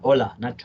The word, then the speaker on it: hola: really have that but in Spanish it's actually uh hola because in Spanish H is always silent always but spells with